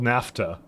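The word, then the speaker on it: naphtha: into a and actually that is actually called NAFTA that that one actually looked at the pronunciation of yesterday CU I was also sure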